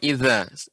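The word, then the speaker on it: إِذَا: Wa idal wuhushu husyirat wa idal biharu sujirat wa Ya, pengucapan idza. oh Ya, ya Ibu sebentar, pengucapan idza. Idza, ya, lidah, ya. Ujung lidah mengenai gigi seri atas, ya. Za, za.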